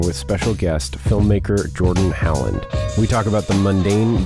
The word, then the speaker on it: Halland: Halland. Okay, yeah. I knew that. It's spelled Halland, yeah.